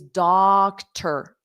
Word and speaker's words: doctor: So in doctor, you don't hear the vowel sound at all.